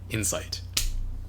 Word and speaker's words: Incite: So why would somebody name a company Incite, but pronounce it like Insight?